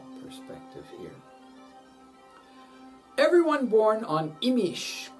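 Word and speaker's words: Imix: Everyone born on Imish, called Imosh in Guatemala, has Manik, Kech in Guatemala. Manik is the Yucatecan pronunciation.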